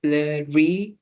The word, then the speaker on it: riz: they can just say le riz. If you can roll your R's, you should say le riz. Okay, so from the very back of your throat, it's um I was